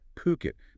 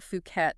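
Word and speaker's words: Phuket: And just to be clear on pronunciation there, it's Puket. P O Ket, right? Definitely not Fuket or anything else you might hear.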